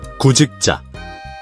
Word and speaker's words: 구직자: When broken down, it's pronounced. 구, 직, 자, But naturally, it's.